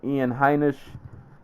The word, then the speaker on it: Ian Heinisch: Moving on, continuing with the theme of making debuts, Ian Heinisch.